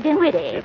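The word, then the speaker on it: Dinwitty: what for mrty Henryetta din witty with an N not an m and the accent on the witty not on the din what do you want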